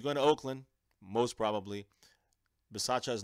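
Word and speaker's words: Bisaccia: confirmed already then we know already that rich masaccio that's how you pronounce his name will be that's the cowboy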